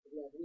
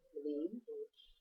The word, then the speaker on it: Levin: and she goes by, Levin, and it's spelled Levin, but she pronounces it Levin. It could be, I understand, Levin, Levine, That's what I was gonna say, Levine. or Levin.